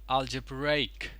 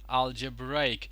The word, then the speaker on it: algebraic: And this one is algebraic. Algebraic. So the stress is on rake, ray over here or ray over here, right?